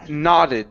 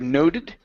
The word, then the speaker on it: nodded: heron okay good uh this word here is pronounced nodded instead of noted Netty nodded yes Netty